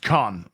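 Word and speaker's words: Caen: And uh it's pronounced Khan.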